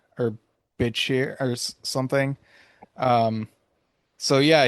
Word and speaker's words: Bichir: It looks like it has like a hard T sound and then an SH. Bitshir, something like that.